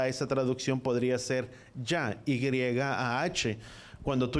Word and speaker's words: Yah: El nombre corto o la forma corta de pronunciar el nombre de Yahweh es Yah.